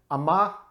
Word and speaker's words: Amager: Worth noting, Amager is the pronunciation of the brewer, though it's spelled A-M-A-G-E-R. So there are essentially dropped silent sounds on the end of the spelling, just if you care.